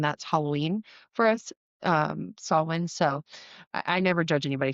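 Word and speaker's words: Samhain: Like, the one that you'll hear the most mispronounced is sawin, which is Sam Han for Americans. Um, and that's Halloween for us. um saw win.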